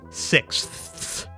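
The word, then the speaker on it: sixths: man it's absolutely diabolical this whole word is one syllable and just this last part I've underlined is such a complicated sound I cannot stand it what do you have to squeeze into this fraction of a syllable you need a k sound you need an S sound you need a th sound and then you need one last s sound what the heck this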